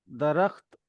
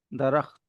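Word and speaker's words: درخت: दरख्त तो दरखत नहीं है दरख्त है तो वो ख की साउंड बहुत कम है वहां दरखत दरखत समझ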